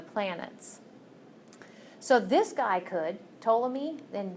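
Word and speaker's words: Ptolemy: so this guy could toam me then the p is silence so you pronounce his name um toam me he actually said no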